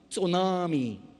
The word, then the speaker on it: tsunami: a brand new word it starts with the T but it you don't pronounce the T so Nami tsunami is that it the